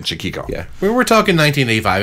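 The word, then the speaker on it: Chaquico: because there you go craig chukiko is a marvelous guitar player i think that's how you say his name chiquiko yeah we were talking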